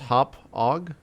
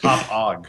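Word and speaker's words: Hauppauge: uh confirmed it's pronounced hop ag.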